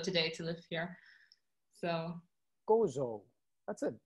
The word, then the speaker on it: Gozo: traveled to godzilla today to live here so gozo that's it how do you does that pronounce g-o-z-o correct uh g-o-z-o it's goto yeah